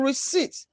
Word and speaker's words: receipt: Note, letter B is silent in doubt and daughter, while P is silent in receipt.